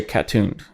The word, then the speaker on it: CA Tuned: And a lot of times people can't, like, they usually say cat-tuned. They don't say CA. CA is California tuned, yeah. And then obviously I'm the off-road division, but people say cat-tuned off-road or cat-tuned.